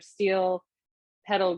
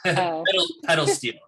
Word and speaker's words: pedal steel: I was so fascinated with your steel pedal guitar. Am I saying it correct? Yeah, pedal steel.